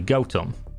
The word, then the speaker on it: Gotham: a small village called gotham the name gotham comes from old english goat home and the correct pronunciation is actually goatum the village became famous